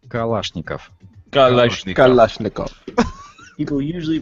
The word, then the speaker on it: Kalashnikov: do it let's go with Kalashnikov it's actually pronounced Kalashnikov Kalashnikov people usually pronounce this classic World War